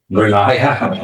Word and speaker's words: Brenya: Brenya. Okay, so it's 3 syllables in it.